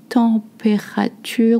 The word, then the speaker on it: température: La température. We say all the syllables. La température.